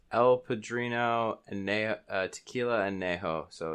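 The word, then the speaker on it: añejo: Anejo. So it's El Padrino Anejo, Tequila Anejo.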